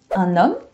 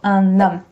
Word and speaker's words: un homme: most common ones are un homme. Remember the H, it doesn't really exist in French. So un homme, la liaison, tu fais la liaison.